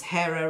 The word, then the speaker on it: Hera: This is Hera right there. Again, you know, it was told that the H, you know, is written, but it says that it wasn't pronounced.